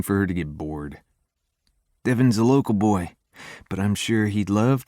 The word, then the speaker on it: Devon: This is Devon. Rhymes with heaven, but he's closer to the devil.